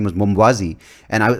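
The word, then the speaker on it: Mwambazi: to get this right so it was spelled m-w-a-m-b-a-z-i and i'm like how do you pronounce it right and it's it's something you learn like mambazi it's like cool so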